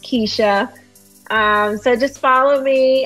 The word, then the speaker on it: Quisha: on facebook um under keisha and yes it's spelled with a cue but it's pronounced keisha um so just follow